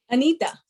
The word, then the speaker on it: Anitha: Now do me a favor, because I feel like I am totally pronouncing your name wrong again. Say your name to me. Anitha. Anita.